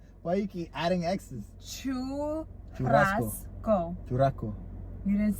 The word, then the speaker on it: churrasco: What's a churrasco you made?